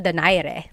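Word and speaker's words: Donaire: So, our first poll here is going to be Mani Pacquiao versus Nonito Daire or is in in the Tagalog uh pronunciation. Nonito Dare.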